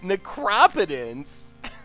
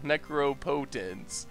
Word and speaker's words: Necropotence: come up with that necropotence that's that's not even me I know how to say necro Necro poent necropotence that was one of the weirdest mispronunciations I I think I've ever heard anyone say pitch Collective brutality pitch